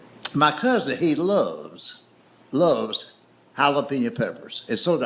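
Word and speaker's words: jalapeño: I love hot peppers, but he calls it jalapeno peppers. He'll say to a waitress, "Do y'all have jalapeno?" You mean jalapeno? No, damn it. Jalapeno. That's right. He he he will he will point to that jar of pepper. He says, "See right there, that's a J. That's jalapen."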